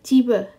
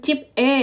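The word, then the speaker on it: 집에: Oke digabung Emak ini bacanya adalah jibe bukan Jip e ya tapi jibbe nih kooroyo oke bacanya bukan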